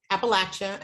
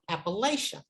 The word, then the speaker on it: Appalachia: He said, oh no, that's what outsiders said. You know, we call ourselves Appalachian. And I thought, oh, these poor people, they don't even know how to pronounce the name of the region.